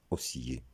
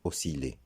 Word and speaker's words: osciller: Comme pour le verbe précédent, malgré qu'il y ait i de l, on ne le prononcera pas osciller, mais osciller.